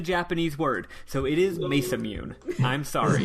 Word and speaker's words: Masamune: It's Masamune because it is a Western fantasy game. That's how you would pronounce the word, unless they give me some indication that it's Japanese, which they never do.